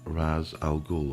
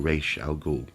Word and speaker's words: Ra's al Ghul: that is year one Ra's al Ghul or Rachele gold depending on how you want to pronounce it um yeah one Batman